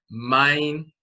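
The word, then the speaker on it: maein: And in Coptic, that memorial for the deceased is spelled M-A-E-I-N. So instead of men, the way they pronounce it is mine.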